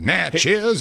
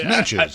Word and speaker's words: Natchez: Like, no, it's not it's not Natchez, it's Natches.